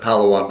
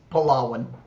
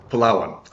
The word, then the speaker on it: Palawan: Oh, so that's on, and I always pronounced it Palawan, but that's not correct, is it? It's It's Palawan. Palawan. Okay, so Palawan.